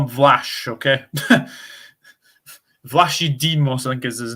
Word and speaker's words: Vlachodimos: Vlachodimos.